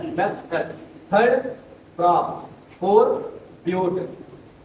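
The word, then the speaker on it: but-: तो आप लिखते हो बेटा मैथ। क्या लिखते हो बेटा? मैथ। जब सेकंड रहता है तो आप लिखोगे क्या? F math F. Third crop four ब्यूट बट नहीं ब्यूट। स्पेलिंग यही रहती है।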